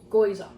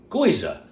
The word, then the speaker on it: gyoza: Gyoza. Gyoza.